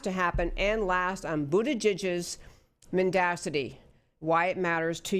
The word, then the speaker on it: Buttigieg: Voters should not reward Buttigieg is how you say his name.